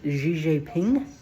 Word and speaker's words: Xi Jinping: I think it's pronounced Xi Jinping.